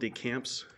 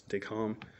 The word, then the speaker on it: DeCamps: uh USV decom it's it's spelled decamps but it's the lovely French so it's decal um so what was